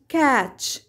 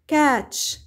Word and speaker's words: catch: وهنا لدينا كلمات نهايتها T C H وتلفظ تش تش تش، مثل كلمة catch catch catch يمسك، match match match يصل بينهم، sketch sketch sketch وتعني الرسم، switch switch switch الإغلاق والفتح.